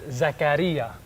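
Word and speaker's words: زكريا: both cultures so in Greek in Greek it's pronounced zacharya and in Arabic it's Zakaria oh how cool is that Zechariah in English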